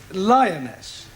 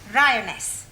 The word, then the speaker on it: lioness: L R. You're not saying it right. Fairly sully. I know. Try saying Ryaness. Lioness. Good. Well, in future, every time you see an L, pretend it's an R.